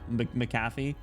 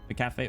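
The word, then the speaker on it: McCafé: Uh Macaffy, Macafe, whatever that Macafe, I think it is. That's how you say it.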